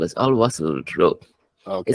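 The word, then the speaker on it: Al Wasl: It's called as Al Wassel Road.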